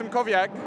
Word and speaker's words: Simkowiak: Yeah, so it's Simkowiak. I've heard many different variations over the last few years, but in the end it looks much more complicated than it really is.